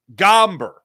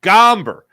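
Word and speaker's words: Gomber: uh the Braves picture Rocky's pitcher tonight um gamber that's how you say his name gamber had a perfect game going for himself up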